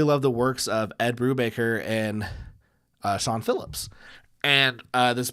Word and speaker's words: Brubaker: I was like, I really love the works of Ed Brubaker and Sean Phillips, and this particular creator is on the stream with me, and we're duking it out.